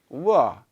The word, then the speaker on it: war: So here, at the end of this, letter R, at the end of a word, we don't generally pronounce the full R, okay, to the letter R. So it becomes a silent R.